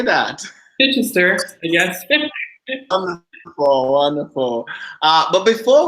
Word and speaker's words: Chichester: Chichester, yes.